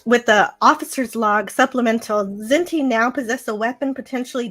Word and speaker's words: Kzinti: I'm thinking of the name Kzinti, if I'm pronouncing it correctly. That's right, they're the Kzinti.